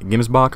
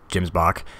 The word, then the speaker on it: Gemsbok: exciting announcement for the games Bach or gyms Bach I'm gonna through sure how to pronounce it exactly but I believe it's gyms Bach but you know we